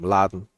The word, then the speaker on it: Mladen: I think it's Mladen, how you say it. Mladen. ML. It's just the other way around.